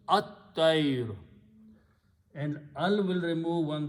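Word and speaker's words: الطير: So this word become, when you combine and read together, lam is not pronounced, ta is pronounced twice, it becomes at-tayr.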